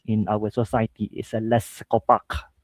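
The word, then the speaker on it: Les' Copaque: our society is a Les Copac. Right, that's how I pronounce it in French, right? So, so Les Copac is a studios which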